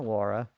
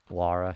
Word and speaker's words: Lara: Laura. Lara. Sorry, I should say Lara. That's how you pronounce it.